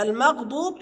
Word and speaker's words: المغضوب: ان غير انتقل من المفخم الى المرقق، المغضوب انتقل من المرقق للمفخم. المغضوب. وخد بالك اوعى تنطق الضاد دال فتقول المغضوب، لا ما ينفعش يا احبابنا.